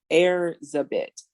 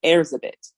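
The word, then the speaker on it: Erzsébet: was considered a witch and her name is pronounced heirs a bit okay airs a bit and it is the hungarian variant of elizabeth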